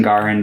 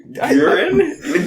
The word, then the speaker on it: Giran: I also thought about picking Garin, but I just knew that he. Who? Garin. We only know Giran. Kieran got both of you saying it wrong. Giran? Giran's their name.